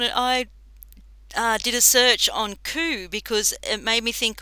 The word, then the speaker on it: coup: search on it, and it's spelled COUP with the silent P, and I took a screenshot, which I'm just Hmm.